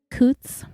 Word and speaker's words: Coots: Elizabeth Coots, rhymes with boots.